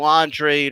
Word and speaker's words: Andrade: to see him fight booboo Andrade or booboo on trade right that's how he wants to pronounce it and let's do it